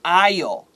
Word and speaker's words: aisle: Or when you're walking in the supermarket, you walk in the aisle, AISLE.